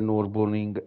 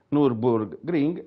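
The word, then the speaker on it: Nürburgring: un secondo così mi faccio sentire esattamente la pronuncia del nurburgring nord ciclo ai ragazzi è no ma io devo vedere quali comandato io che stupido e norcia life ok nurburgring e nord laico nella pronuncia perfetta quindi minuto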